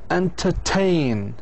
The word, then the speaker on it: entertain: final syllable is strong, then if the final syllable is strong, it will be stressed. If the final syllable is strong, شعن strong, it doesn't have أشوى. هذا معناتها. إذن هي بتكون stressed. Entertain. Understand. لاحظوا كيف understand.